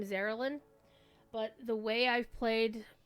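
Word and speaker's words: Zar'elin: So she pronounce it Zer Ellen. Um like the E is capitalized or something.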